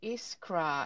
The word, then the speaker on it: Iskra: I'm direct director of iskra and how do you pronounce iskra just like you just said at iskra right um I think